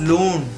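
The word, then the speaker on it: ਲੂਣ: तो जब भी आपको अब नमक यूज करना हो घर पे, so don't say it namak, pronounce it as loon.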